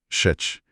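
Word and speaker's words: ח: É um som gutural, vem do fundo da garganta. Para facilitar, a gente pode chamar de Het.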